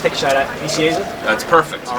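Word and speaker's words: Nicieza: Vicieza?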